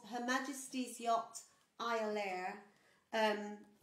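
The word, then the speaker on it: Iolaire: ships so a ship called her majesty's yacht ayalaire um it's actually the the the proper pronunciation is euler which means eagle but it was it was known as the ilia it was brought into service um to take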